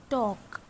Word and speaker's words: talk: Look at the word talk. Now see, talk. Here L is silent.